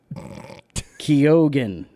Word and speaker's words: Keoghan: Barry Keoghan. Barry Keoghan. I know that guy. He's a nice fella. That's how you say it.